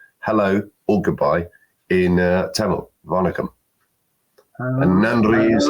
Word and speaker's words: Vanakkam: Vanakkam. It's from It's from Tamil Nadu in in South of India, and I just said hello or goodbye in Tamil, Vanakkam.